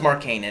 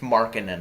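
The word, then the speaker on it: Markkanen: and in the pronounciation I thought it was mark Canaan it's marking than apparently Wow all right mark and III was wrong I thought was mark inan but it's the funniest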